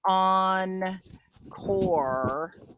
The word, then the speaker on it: encore: know what that means encore have you heard that word encore yeah and it's pronounced on core kind of like core but um there's another